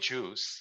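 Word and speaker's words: JeOS: I use Raspberry Pi, use LibreLect that uses EOS, but that's mostly just an image we call it Juice, like just enough operating system. So now you know how to say it.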